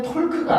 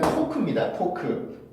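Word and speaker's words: talk: 지금 저한테 제가 아까 전에 이거 읽어보세요라고 여러분들한테 말씀드렸었는데 이걸 톨크라고 읽으시는 분 많죠? 지금 많으실 겁니다. 아마 대부분의 학생들이 그렇게 읽는 경우가 많은데요. 이거는 톨크가 아니고 일단 토크입니다. 토크예요.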